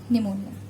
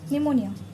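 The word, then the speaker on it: pneumoniae: चलो नेक्स्ट है निमोनिया। Again it इज़ a bacterial disease, ठीक है। कौन करेगा? इसका भी नाम बहुत अच्छा है, स्ट्रेप्टोकोकस निमोनिया, निमोनिये है ना, निमोनिये, सेम स्पेलिंग, निमोनिया।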